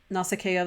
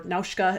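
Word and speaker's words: Nausicaä: the work of Hayao Miyazaki particularly his manga nasakea the valley of wind so a lot of us are familiar with Princess Mononoke and Spirited Away and um nasakea or naushka is how they pronounce it in Japanese was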